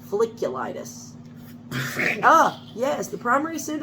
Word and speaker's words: folliculitis: there was such a thing google hot tub feliciatus i said i'm probably pronouncing it wrong folliculitis ah yes the primary suit of hot tub